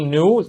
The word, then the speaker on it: knew: دي knew تلاقي هنا silent طبعا. والnew نطق زي new بالظبط اللي هي جديد، ولكن أنا دايما عرفت الweather هيبقى عامل ازاي.